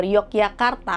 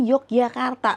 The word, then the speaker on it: Yogyakarta: Karena pada zaman Hindia Belanda, orang-orang Belanda dalam ejaan Belanda itu J dibaca Y.